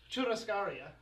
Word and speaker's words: Churrascaria: Okay, you guys are gonna have to pronounce it. You want to do it? I'll Churrascaria. Alright, Churrascaria.